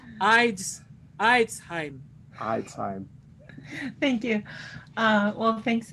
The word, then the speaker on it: Eidsheim: Eidsheim. I said it right. Eidsheim.